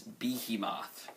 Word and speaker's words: behemoth: I pronounced behemoth wrong. It's behemoth.